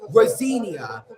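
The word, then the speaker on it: Rosenior: Rosinia, that's how you pronounce it.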